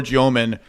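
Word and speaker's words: Demin: By the way, I watched 2 separate videos of Yegor Joman educating people how to pronounce his last name, first at BYU and then with the Nets, and they were different pronunciations. One was Demon or Demon, and one was Joman, and I'm going Joman because that was the Nets one.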